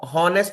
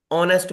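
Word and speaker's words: honest: में होता है ना होनेस्ट नहीं बोलते ऑनेस्ट बोलते हैं राइट तो एच वहां पर साइलेंट होता है बट याद रखो फ्रेंच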